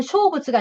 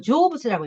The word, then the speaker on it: 成仏: 이거는 쇼부츠가 아니고 이건 조부츠라고 읽어야 돼.